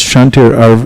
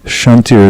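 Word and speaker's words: kṣāntir: the verse that begins, Shantir avyartam kalatvam. Shantir is spelled K-S. Shantir. KS.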